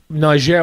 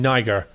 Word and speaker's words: Niger: through the organisation in Niger, West Africa. I want to say it correctly because I was saying Niger. It's not. It's Niger.